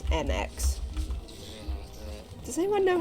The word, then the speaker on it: Mx: Pronounced to sound like mix or mux, the title MX, which like other honorifics